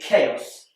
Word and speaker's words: chaos: And finally, chaos. This is spelled with a CH. And CH is more commonly pronounced ch, like in church. But in chaos, it's a k, like in cat.